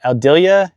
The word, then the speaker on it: Aldila: They have a senior flex shaft by, I'm going to say it wrong, but Aldila, A-L-D-I-L-A, and they're overall in great shape.